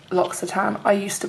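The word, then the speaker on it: L'Occitane: at hand toiletries did you know that it's pronounced locks a time I used to pronounce it look at Ain and then my friend who speaks fluent French I was like no it's lots of time oh okay except he says it with a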